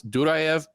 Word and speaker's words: Duraev: He will look to get back on track against Duraev. And yes, I know it's Duraev, but I'm just Americanizing it because it's really hard to do that that syllable accent.